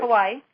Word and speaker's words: Kauai: to be in Hawaii, in, how do you pronounce that? Kauai. Kauai, on the island of Kauai.